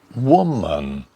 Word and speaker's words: woman: Next one, woman, woman, man. And sugar, we don't say sugar. American English pronounce the final R, usually, as in sugar, with an sound.